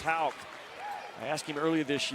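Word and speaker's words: Haugh: And people watching the game say, wait a minute, his name is Houck, like a K at the end. It's spelled H-A-U-G-H, but it's pronounced Houck.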